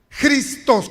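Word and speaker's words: Christos: se ocupó la palabra que se pronuncia cristos con j está conmigo y de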